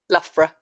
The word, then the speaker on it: Loughborough: Loughborough. Loughborough. Yeah. Loughborough. It's Lough, but there's no F in there. I know. There's a it's low, like dough. It's spelled like dough, but it's low. Boro. Loughborough, yeah.